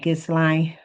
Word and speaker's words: Ghislaine: Her name is Ghislaine. Ghislaine Maxwell is how you pronounce her name.